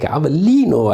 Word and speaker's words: Avellino: I'm really happy to say your names like Avellino, Ariano, Irpino. This is the exact Italian pronunciation.